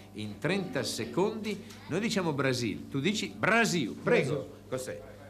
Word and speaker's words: Brasil: Cos'è, però, mi ha detto, noi pronunciamo male, come si dice? Si dice Brasil, però... Ah, come si dice? Brasil.